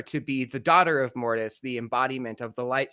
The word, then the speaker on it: Mortis: Am I pronouncing this properly? Mortis?